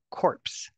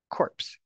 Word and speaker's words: corpse: one is pronounce corpse make sure you pronounce the S corpse corpse the second word you